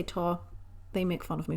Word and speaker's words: tau: I've always pronounced it TAU.